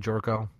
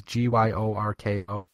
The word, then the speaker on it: Gyorko: Louis acquires Jed Jorko. I think that's how you pronounce his name, from the Padres. Gyorko. Jorko.